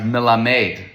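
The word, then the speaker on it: מלמד: The the term is pronounced milamedeade with the stress on the last syllable.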